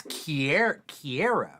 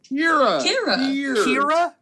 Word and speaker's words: Keira: It's ear. Like how you spell ear.